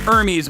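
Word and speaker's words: Hermès: But I restrained myself from lecturing them that you don't pronounce the H in the company's name.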